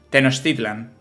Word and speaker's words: Tenochtitlan: ahí las palabras tío se pronuncia la che como es como es Tenochtitlán o sea como una no llega a ser una x como una sh no como Tenochtitlan vale Tenochtitlan Ok pues chicos